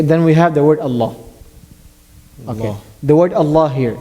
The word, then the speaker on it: Allah: Fatah or Obama than the word Allah will be pronounced in heavy heavy so here the